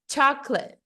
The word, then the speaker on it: chocolate: fala subindo e descendo então é como se essa palavra aqui no inglês fica chocolate chocolate Então esquece ai Nicole